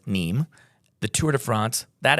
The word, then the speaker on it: Nîmes: We're going to talk about Nîmes, it's spelled Nîmes, but it's Nîmes.